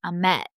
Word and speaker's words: Ahmet: Let's talk about DJ Ahmet. I think I keep saying Ahmet, and I've also heard in the movie that they say Ahmet with the accent on the second syllable.